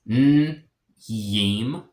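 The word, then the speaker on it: njim: Niem. Niem. So it's yim. He kind of has a little bit of a Y sound there.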